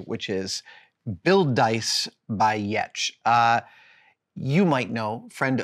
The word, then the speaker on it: Giertz: site of her designs and products is called yet ye T C which is funny because that's how you pronounce her last name which is spelled g